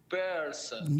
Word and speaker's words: person: this word person person person yeah per person person yeah and make that R remember long RS so per per person Pur that's it it's like the sound a cat makes right purr purr per